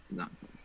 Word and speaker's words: Xantcha: Zancha. It's like matcha, but Zancha. It's a dumb fucking joke.